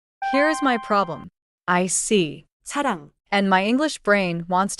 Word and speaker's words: 사랑: At the beginning of a syllable, 이응 is silent. At the bottom, 이응 sounds nasal. So, 이응 at the start is like a placeholder, but final, 이응, is the nose sound.